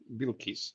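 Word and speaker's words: Bilquis: Bill Keyes, yeah.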